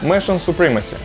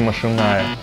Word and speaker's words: Machinae Supremacy: supremacy начнём с названия несмотря на написание оно произносится нормально mion supremacy иногда их называют сокращённо МАУ но никак не машиная ну с названием разобрались